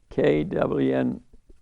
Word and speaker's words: quinoa: Quinoa, Kwinwa. That's how you pronounce it.